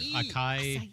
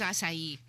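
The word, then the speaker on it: açaí: I don't know how to pronounce the word akai. Oh, I mean, hey, that sounds fun. Akai. Anyways, I think it's asai.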